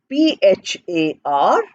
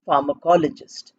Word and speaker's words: pharmacologist: Pharmacologist is spelled as Pharmacologist. Pharmacologist. We are saying fur, but we are saying PH in pronunciation.